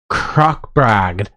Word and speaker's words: Krokbragd: that's all I know now it's Norwegian well it's it's called rogue croc bragged okay well hashtag and